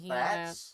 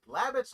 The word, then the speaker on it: Labatt's: Labatts. Yes, it's called Labatt's. Yes, we did have that. Labbits. We still carry that here. Okay, Labbits, no. Labatt's, yes.